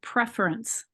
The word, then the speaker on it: preference: I think I accent on the prefix of preference. Prefer. Notice how I go prefer. And I accent on the for the prefer. Preference. Oh, preference. This kind of disappears, doesn't it?